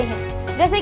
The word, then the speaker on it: hedge: अगर मैं बोलती हूँ बच्चों हेज, तो यहाँ पे HEDGE होगी करेक्ट स्पेलिंग। D और G साथ में आ रखा है, तो इसलिए